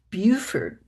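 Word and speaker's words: Beaufort: That is pronounced Buford, by the way.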